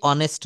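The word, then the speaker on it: honest: হচ্ছে সে একজন সৎ মানুষ হি ইজ এ অনেস্ট ম্যান এখানে স্বাভাবিক নিয়মে এ বসানোর কথা কারণ এই অনেস্ট লিখতে গেলে কিন্তু বানানটা লিখতে হয় অনেস্ট এইচ ও এনই এসটি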